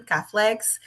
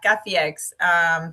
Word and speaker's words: Kafiex: You know, some people putting there like an L for some reason, Caflex. And So, we've heard it all. It's okay. But, yeah, Cafex.